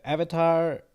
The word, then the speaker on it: Avatar: list for Golden Globe so Avatar or Avatar which is how it's supposed to be pronounced why is that in